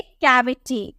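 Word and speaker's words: cavity: ए देखने को मिला तो इसकी प्रनंसीएशन कॉमिक करेंगे हम बोलेंगे कैविटी कैविटी इससे हम क में नहीं चाय बिट्टी नहीं बोलेंगे कैविटी बोलेंगे क्योंकि केक के बाद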